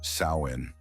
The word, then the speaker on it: Samhain: years to the ancient Celtic Festival of hun pronounced sain the Kelts who lived in what is now